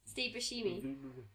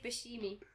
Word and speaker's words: Buscemi: Isn't that Steve Buscemi? Yeah, there's another one, isn't it? Looks like how do you pronounce his name? I say Steve Buscemi.